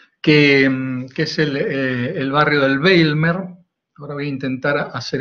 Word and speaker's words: Bijlmer: Este que están viendo es el Bijlmer, en Ámsterdam así se pronuncia.